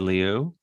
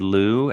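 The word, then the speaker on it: Ted Lieu: else um congressman ted liu or ted lou as most people come but i went to high school with him and i swear it's pronounced liu and but i have not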